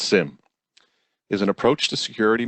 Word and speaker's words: SIEM: and event management are SIEM pronounced sim is an approach to